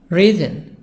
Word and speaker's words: reason: Reason. S-Z, reason.